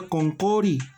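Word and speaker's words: qunquri: Se escribe kunkuri pero se pronuncia konkori.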